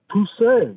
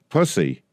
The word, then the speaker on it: Pussy: How do I pronounce this name of yours? Pussy, that's my last name. Pussy.